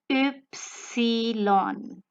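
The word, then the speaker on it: Ypsilon: unique to the german language only and this pronunciation of y is called the oopsylon so this oopsy lon sound is made by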